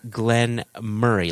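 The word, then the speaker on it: Glen Moray: So it's Lechig, and then Glenn Murray. Like, think of your best friend Murray, or Jason, in your case, your brother Murray.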